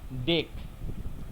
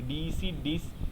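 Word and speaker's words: dec-: দেন paint, hex, হেপ্ট, অক্ট, নন, ডেক, ডেক, ডিসি, December বলিস না, ডেস বলিস না, এটা হচ্ছে ডেক। ঠিক আছে, যদি 11টা থাকে, দে আর কল্ড উনডেক। উন মানে হলো ওয়ান, ডেক মানে হলো দেশ, উনডেক, দিজ আর ল্যাটিন।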